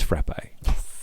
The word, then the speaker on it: frappe: It's frappe with the ill because Casey did say the accent is on the e, not on the a.